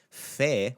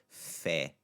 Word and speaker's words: fé: You're just going to pronounce it the same way you did as pe, but throw the f sound in front of it. Fe.